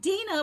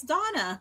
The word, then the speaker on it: Dana: When I look at it, it looks like Dana, but it's Donna.